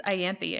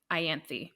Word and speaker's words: Ianthe: audiobook the second time, the narrator was saying Ianthe. So I trust that. That seems right to me. And I'm just an idiot because of the way it's spelled. I said Ianthe.